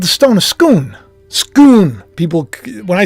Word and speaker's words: Scone: in Scotland but it's called the stone of scoon scoon people when I say scone they get it they're like no it's scoon